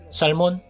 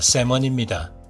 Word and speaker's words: salmon: 살몬? 셀몬? 샤몬? 우리나라 사람들이 가장 잘못 발음하는 발음의 예로 연어는 살몬, 셀먼 이것이 아니라 세먼입니다.